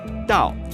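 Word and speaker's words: 倒: a play on words the Chinese character the that means backwards or upside down D is pronounced the same way as the character for arrive D so if you have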